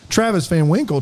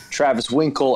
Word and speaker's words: Travis Van Winkle: my last name and they'll forget the van and they say well hello Mr Winkle or Travis Winkle and I there's always